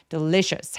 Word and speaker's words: delicious: delicious 할 때 강세가 부각되게 느껴지려면 첫 번째 음절인 the 부분을 조금 힘 빼고 소리 내주시면 되겠습니다. delicious soup. delicious. shus 할 때는 여기가 CI가 SH처럼 입술을 쭉 내미는 소리라서 shared a delicious soup.